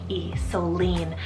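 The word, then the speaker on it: Solene: sparkling next up is Celine but spell s-o-l-e-n-e so lean I am loving this spelling I saw it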